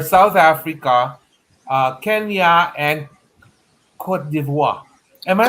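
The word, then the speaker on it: Côte d'Ivoire: top three are south africa uh kenya and cote d'ivoire am i pronounced right yes yes yes okay so those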